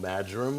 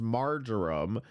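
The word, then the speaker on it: marjoram: Mounds of seasoning pepper I think it's called madum leaves mum leaves so you're going to mix the seasoning in there have been previous videos in the past years where we've heard him correctly pronounced margarum and I think it's mea well the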